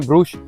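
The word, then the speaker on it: Brugge: 6 घंटे अराउंड हमने घूम लिया और इतने में हमने पूरा ब्रक्स ऑलमोस्ट कवर कर लिया है। यहाँ के लोग का प्रोनाउंसिएशन है ब्रूश। तो अभी जो है हम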